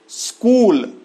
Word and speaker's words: स्कूल: इसी तरह से स्कूल, स्कूल को लोग स्कूल बोलते हैं। एक तो ये जो स का आधा है, इसके पहले लोग ई लगा लेते हैं, और क में दीर्घ ऊ की जो मात्रा है उसको लोग ह्रस्व में बदल लेते हैं।